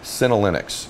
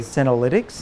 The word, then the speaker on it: senolytics: So, uh, I want to make sure I pronounce it right. Cinnolinics. Am I saying that correctly? Senolytics.